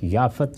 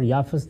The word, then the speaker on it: یافت: حام ہے اور ایک یافت۔ یافت اور یافس دونوں تلفظ ہیں، اسی طرح سم اور